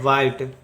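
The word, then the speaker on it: white: उसी तरह से फिर से देखिए, डब्लू का हम लोग लिखेंगे व होगा, व एच का यहाँ पे कोई उच्चारण नहीं होगा, डब्ल्यू एच है इसलिए व, डब्ल्यू एच का यहाँ पे सिर्फ व ही लिखेंगे। आई का होगा वा ई आई, टी का लिखेंगे ट, टी का लिखेंगे ट, ई का कोई उच्चारण नहीं होती, हो जाएगा वाइट।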